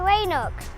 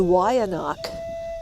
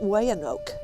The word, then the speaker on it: Weyanoke: named for Native American Indian tribes we say Wayne Oaks but the way no people pronounce it a little differently they lived in Virginia a long time ago this is their story the Y anak and that's how you pronounce it not way